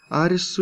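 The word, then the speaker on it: アリス: Так как японцы не могут произнести звук «Л», Арису является японской версией произношения имени Алиса.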